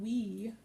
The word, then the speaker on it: Oui: It's called Oui. I keep calling it Oi because it's spelled O-U-I. Anyway, like I said, they're